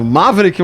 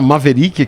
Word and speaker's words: Maverick: Maveric pronúncia mais americana. Maverique, mas aqui eu acho que tanto faz, vai do gosto do freguês, né?